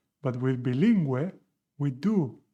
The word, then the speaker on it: bilingüe: And this indicates that we need to pronounce this U. So with bloguero, we do not say bloguero. This U is not pronounced. But with bilingüe, we do pronounce the U.